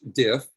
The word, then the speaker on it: DIF: little tidbit here diff it's pronounced diff but it stands simply